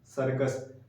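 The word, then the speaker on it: circus: अंग्रेजी में एक शब्द है सर्कस, उसमें 2 बार सी आया है, एक बार सी का उच्चारण क हो रहा है, एक बार हो रहा है स हो रहा है, ठीक है।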